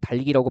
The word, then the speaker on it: 닭이: 우리 다음 시간에 하겠지만 이걸 막 닭이 막 이렇게 발음을 해요. 달기라고 발음을 해야 되는데 정말 다들 예쁘고 잘생긴 건 알겠는데 이걸 어떻게 닭이라고 발음합니까? 이건 달기예요, 달기.